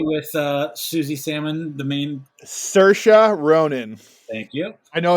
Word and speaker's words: Saoirse: And I know this because she did an interview and she said it sounds like inertia.